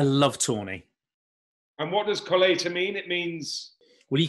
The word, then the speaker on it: Colheita: Right, have you got this fella, the Colheita 2005? Colheita. You pronounce all the words Colheita.